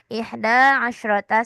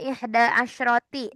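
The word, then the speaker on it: إحدى عشرة: Jangan diubah-ubah, ingat ya. Tidak ada ihda asyroti. Tidak ada ihda asyrotu. Tidak ada ya. Semuanya fathah.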